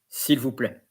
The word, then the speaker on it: s'il vous plaît: So there is s'il, which is the equivalent of S-E-A-L, but it's S'-I-L, it's s'il. Vous. And in that case, it's ou, because it's O-U. And the S is not pronounced. And then play. Like play. P-L-A-Y, but play.